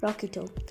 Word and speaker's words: rocchetto: The word rocket, found in Italian called rocketto, it is spelled as ROCCHETTO, rocketto.